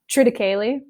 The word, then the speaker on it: triticale: Triticale. Yeah, never heard of that. I mean, people pronounce it differently, but I call it triticale.